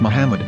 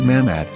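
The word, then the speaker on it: מחמד: yehudas hebrew english dictionary it is correctly pronounced as muhammad not mahmad so how we're going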